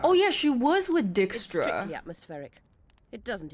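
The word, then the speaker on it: Dijkstra: It is pronounced Dickstra. Is what they say true. Not. It's definitely not Djra.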